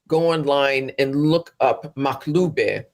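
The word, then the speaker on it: makhloobeh: online and look up maube maube it um it's an Arabic word and if I were to spell it phonetically would be m a k h l o o b e h and it's an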